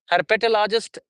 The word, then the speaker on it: herpetologist: Herpetologist. Herpetologist would be the word. Um, which will contain one, two, three, four, five syllables.